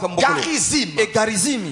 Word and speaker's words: Garizim: une montagne le mot Garizim l'autre montagne le mot Ebal ça s'écrit comme vous l'entendez Garizim avec G A R I Z I M Garizim comme vous l'entendez Ebal également comme vous